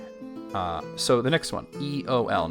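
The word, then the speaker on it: Eöl: So the next one, Eol. Now this one's interesting because we do have the 2 dots above the E indicating that it is in fact its own syllable.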